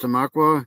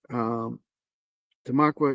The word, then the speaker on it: Tamaqua: So here's this is where I'm pretty sure it's pronounced Tamaqua here, Pennsylvania.